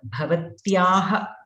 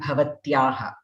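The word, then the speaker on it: भवत्याः: Okay, so here the pronunciations are really important in Sanskritam, as you all know, and many people have tough time remembering to use the Mahaprana Bha in Bhavataha and Bhavatyaha. They say Bhavataha, Bhavatyaha.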